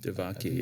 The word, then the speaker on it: Devaki: They claim that he's born of a virgin, and yet according to the mythology, Krishna was born of the virgin Devaki. Devaki, That's how you pronounce this.